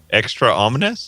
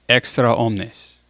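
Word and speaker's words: extra omnes: cardinal yeah he says extra omnis everybody out get out of here now that's not what extra ominous means well that's what he's oh no it is it is if there's a long a i see okay on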